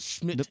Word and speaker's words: Schmidt: reason I say it like that is so people don't think it's Chris Smith. Oh, okay. You got to put the Schmidt in it.